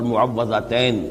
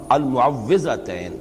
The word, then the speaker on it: معوذتین: کچھ مشکل ہوتی ہے، عام طور پر معوذتین یہ غلط العام میں اس کا نام مشہور ہو گیا ہے، لیکن اصل میں المعوذتین واو کے زیر کے ساتھ۔ اور اس میں بھی